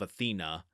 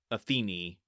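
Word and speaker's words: Athene: I've opted for the traditional name of Athena for my own sanity, but it is pronounced Atheni.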